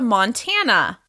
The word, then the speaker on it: Montana: Let's go on to Montana. Montana. Montana is stressed on the second syllable.